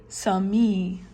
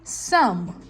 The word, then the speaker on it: some: But Do you pronounce both of them when you say the word? You don't say sami, okay? You say some. So you don't pronounce both of them. This is different, the E at the end. It changes the sound of this one. So this one we don't pronounce it.